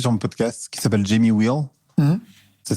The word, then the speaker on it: Jamie Wheal: Il y a un auteur américain que j'ai reçu sur mon podcast qui s'appelle Jamie Wheal. Ça s'écrit W-H-E-A-L.